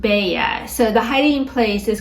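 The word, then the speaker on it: Beje: it's spelled b e je e but it's pronounced Bea so the hiding place is called the baa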